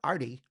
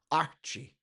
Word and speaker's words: Artie: é Artur," is because if a Brazilian tries to pronounce the word Artie, it comes out Archie.